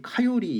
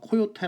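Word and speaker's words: coyote: 바뀐 단어 중에 하나에요 그래서 그 미국 사람들이 그 발음을 할 때는 거의 카 요리 이렇게들 이거든요 그래서 여러분들이 미국사 앞에서 코요테 라고 하면은 100% 못알아 듣습니다 예 다름이 너무 많이 달라요 온데 무쏘 읽기는 쿤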